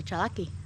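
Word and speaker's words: Tsalagi: Beautiful Cherokee tomato. Or if you pronounce it properly, Chalaki.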